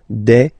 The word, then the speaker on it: des: and then you just add this S at the end and as we said you don't pronounce it so you get de okay de so un singular